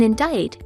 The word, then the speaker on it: indict: b is silent in indict there's a silent c condemn ends with a